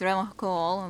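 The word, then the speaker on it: Revachol: locks at his feet he pronounces real call with the k unlike other people yeah mostly it's been raven shawl revon cole very different serious question time this man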